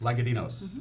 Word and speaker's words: Lagadinos: little while and to my immediate left Jennifer pronounced last name again sort of Lloyd legatine s Myka Dino's like a dinos Jennifer lenka Dino says the Wenatchee School District Transportation Director pretty still